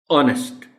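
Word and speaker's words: honest: ऑनेस्ट, H silent है.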